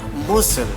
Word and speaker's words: muscle: See, the letter C is usually not pronounced in the combination of SC.